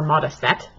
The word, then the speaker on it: Modesitt: I did check and she does pronounce it moccasin she's very dances it actually more modest yet but - if mom